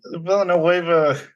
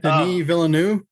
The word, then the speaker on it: Villeneuve: Like with the Villanueva movies, Villeneuve, I can't say his name today. Denis Villeneuve.